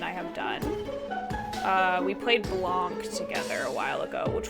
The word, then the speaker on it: blanc: I guess you wouldn't pronounce the NC if you were actually speaking French. It's like Blanc.